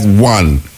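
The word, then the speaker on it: Juan: The E is silent in Spanish, but the G sound like a E. So like one, J-U-A in a one. A one, yeah. So coming like a H-U-A-N, one.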